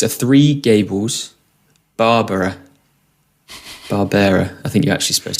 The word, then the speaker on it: Barbera: It's a Three Gables Barbera. I think you're actually supposed to pronounce it as, but yeah, there's a small bottle. It's Barbera.